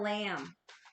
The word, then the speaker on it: LAM: But the way that I always learned it, because it's spelled LAM, right? So it's like lamb.